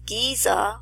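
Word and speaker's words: גזע: It means a stalk of a tree, and that word is Giza. It's pronounced just like the Great Pyramid of Giza, and Strong's number 1503,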